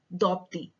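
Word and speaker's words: Dopdi: p d i anthrapadi it is either that as a tribal she cannot pronounce her own sanskrit name that is or the tribalist form dhakti is the is the proper name of the ancient draupadi she is on a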